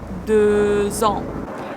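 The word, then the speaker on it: deux ans: X usually is not pronounced here, but the next word starts with a vowel, so this X letter is pronounced as Z. 2 ans.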